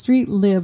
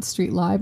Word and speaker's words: StreetLib: It's StreetLib, not StreetLib, and you'll find out why.